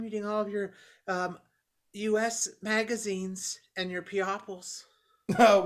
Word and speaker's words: Us: captured in all the magazines yes this uh us magazine is very informative you're so cute it's us magazine it's us magazine really yeah that's how you pronounce it